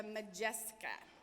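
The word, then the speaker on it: Modjeska: your table today it's official name is the majestic ax and it's spelled mo DJ es ka and it was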